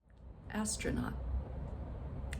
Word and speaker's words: astronaut: O can also represent the schwa sound. So, how about the word astronaut? Astronaut. Okay. So the schwa sound is that second syllable astronaut. Okay. And as you know that is spelled with the letter O.